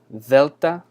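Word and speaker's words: δέλτα: that's always helped me here we have Delta so Maybe so it's kind of a it's a soft D it's kind of like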